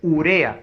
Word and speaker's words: urea: tienes la palabra urea ojo es urea no es espuria es urea y la fuerza voces del